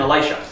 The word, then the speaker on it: Elisha: Jacob a light shot Elijah and Elisha right right he hands the mantle to Alicia Alicia who say it wrong um so that's